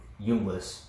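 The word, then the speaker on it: Junglas: I think it's pronounced Jungless, but if you're trying to spell it, J-U-N-G-L-A-S, 10.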